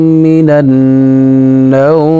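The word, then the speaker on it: من النوم: আসসালাতু খায়রুম মিনান নাওম, লাস্টে কিন্তু মিম, অনেকে অনেকবার পড়েন কিন্তু এটা সঠিক না, মিমের উচ্চারণটা করতে হবে।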